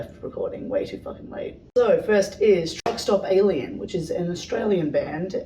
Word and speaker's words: Truxtopalien: they're from perth yeah truck stop alien so like the way that they spell it is like t-r-u-x-t-o-p-a-l-i-e-n but it's like meant to be like truck stop like you know what